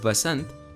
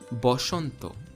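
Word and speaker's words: বসন্ত: would call it khar bengali similarly has schwa in it but interestingly it's not a it's o therefore the hindi word vasanth which in sanskrit would be vasantha in bengali becomes boshanto similarly this word in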